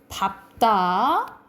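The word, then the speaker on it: 밟다: 그런데 비읍으로 발음되는 게 4가지 있다 했죠. 비읍으로 발음된 거 외우라고. 밥다, 넓다, 넓적하다, 넙죽하다, 그리고 넙둥글다. 우리가 외웠지? 시험에도 나왔고, 이 네 가지만 비읍으로 발음나고 나머지는 리을로 발음된다라고 보시면 돼요.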